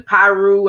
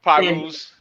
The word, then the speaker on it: Pirus: I mean, I learned about the Piru. I may not be saying it right. Did I say it right? It's Pirus. The Pirus and so forth.